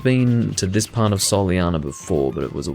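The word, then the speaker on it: Soleanna: a long time ago the city of solano was a solyana i need to remember to pronounce it that way which is again the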